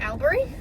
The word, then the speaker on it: Albury: I made it to Albury. It's not Albany, it's Albury.